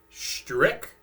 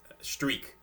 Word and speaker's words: Strich: companies have been, but I believe the ch is hard. It's a strick or stra uh streak as they pronounce it in Germany.